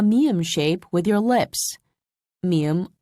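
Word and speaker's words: 미음: shape with your lips mium also involves a nasal voice listen carefully ma mu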